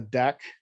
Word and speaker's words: deque: So usually the deck, we usually define it as remove front, just